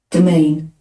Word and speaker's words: demesne: See how it's pronounced. Demesne. Domain.